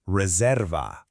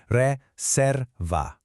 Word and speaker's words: reserva: Reserva. Let's sound it out. Reerva.